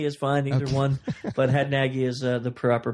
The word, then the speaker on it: Hadnagy: But Hadnagy is the proper pronunciation, at least for America.